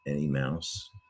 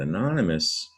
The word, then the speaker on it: anonymous: OU typically makes an ow sound like OW, but like in mouse, that's why anonymous, I've heard anonymous confused for any mouse or annoy a mouse even. But anonymous, the English added an O when they spelled it in English long ago, but you just hear the us, like in the Latin anonymous.